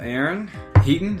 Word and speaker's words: Aaron Heaton: Sit here in the office of Aaron Heaton.